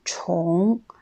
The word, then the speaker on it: 重: Ensuite, le mot 重, quand c'est le quatrième ton, on le prononce 重.